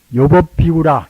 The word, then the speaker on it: 요법비구: 요법비구라, 요법비구. 불경 보면은 요법비구라고 좋아할 역자, 즐거울 낙자를 이제 좋아할 요걸 때는 요라고 발음하지 않습니까? 요법비구라, 법을 너무 좋아해서 이제